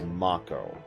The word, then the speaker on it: Mako: Oh yes, by the way, just to be clear, the official pronunciation is Mako.